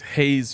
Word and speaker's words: Hayes: way you said it I think it's Hayes faucet Hawes faucet are you sure I I'm pretty sure all right someone in the comments had pronounce that you're pronouncing that wrong I I swear I thought that's what it was I know because I know it's a very weirdly spelled name for how it's pronounced h-a-y-e-s I know all right